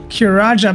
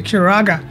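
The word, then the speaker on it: Curaga: the the spells wrong i always say like kiraja but it's actually kuraga so sorry about that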